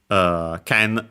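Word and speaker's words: けん: More often than not, you'll actually see the Chinese pronunciation ken, tsurugi accented on the last syllable, ken accented, and so actually on the first mora.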